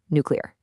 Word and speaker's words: nuclear: Okay, this one isn't a ghost letter. It's a ghost syllable that people just invent. There is absolutely no extra U or Y in there. It's simply nuclear. Never nuclear.